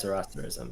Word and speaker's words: Zoroastrianism: How is it pronounced? Zoroastrianism? Yeah, it's Zoroastrianism. Zoroastrianism. Okay, Zoroastrianism.